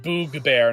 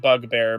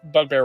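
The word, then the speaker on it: bugbear: think is the and it should technically be pronounced boo bear not bug bear but bug you know bug bear works just as well um is like I'm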